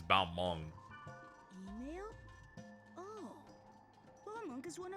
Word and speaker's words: Balmung: Because sometimes they deliver it as Balmunk, but it's Balmung.